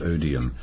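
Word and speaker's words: Odiham: live in the Hampshire Village of odham pronounced odium though they've spent most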